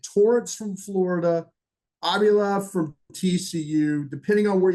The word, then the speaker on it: Avila: It's Avila.